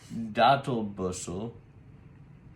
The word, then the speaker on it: Datl Busserl: Okay, well, Datl Busserl, did I say it right?